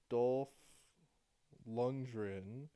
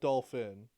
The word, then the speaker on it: Dolph Lundgren: Dolph Lundgren. Not Dolphin.